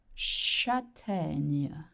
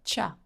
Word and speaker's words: châtaigne: To get chestnut, the word is la châtaigne. La châtaigne. So you got the sound ñ, right? CH makes the sound sh. La châtaigne. Not cha, cha.